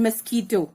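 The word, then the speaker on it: mosquito: यहाँ पे k sound को QUE ये अल्टरनेट स्पेलिंग से रिप्रेजेंट किया गया है, ये साउंड कर रहा है इधर k को, because k और C को, because they are French words, they are not English words.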